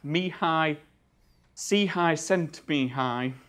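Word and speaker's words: Csikszentmihalyi: start with this chap me high C high cent being high that's definitely how you pronounce it sorry if I've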